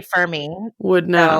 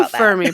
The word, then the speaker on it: Fermi: it I don't know I say it f me but that's cuz I'm an American and we pronounce everything incorrectly yeah but also like you are an astrophysicist so I feel like you probably but we all say ferm me so I don't know